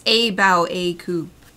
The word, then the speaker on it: Cabyll-Uisge: I wasn't sure how to pronounce it, and it's Cabyll-Uisge.